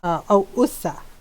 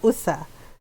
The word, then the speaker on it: usa: young deer, it's batang usa. Yeah, so it doesn't look how, so this is how it's spelled, and it's not, yeah, so it's like this. So it's not USA, it's USA.